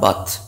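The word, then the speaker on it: bathe: এখানে স্টিপ কথাটার মানে হচ্ছে সোক অর বাথ। বাথ মানে হচ্ছে স্নান করা, এটা কিন্তু BATH, বাথ মানে হচ্ছে স্নান, কিন্তু এটা অ্যাকচুয়ালি উচ্চারণটা, প্রোনাউন্সিয়েশনটা কি না, বেথ।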